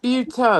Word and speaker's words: Buteau: It's Buteau. Buteau. Buteau. Okay, Michelle Buteau.